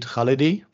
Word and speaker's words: Khalidi: First, Khalidi is more correct. Khalidi is more correct? Yeah. Okay. Accents on the first syllable.